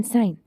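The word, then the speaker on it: sign: अलाइन शंपान फॉरन एन साइन इसमें देखें तो जहां जहां भी जी एन से पहले आया है वह साइलेंट होगा नेक्स्ट आ जाता है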